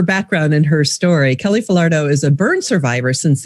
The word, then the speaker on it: Falardeau: Her name is Kelly Falardo, and I had to practice how to say her name.